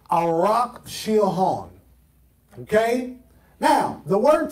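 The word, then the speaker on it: ערך: That word prepare in the Hebrew is a Hebrew word pronounced as best as I can. I'm not a Hebrew scholar. Arak. Arak. A-W-R-A-K for pronunciation, although it's a little, it's weird the way they say it, but that's how you spell it.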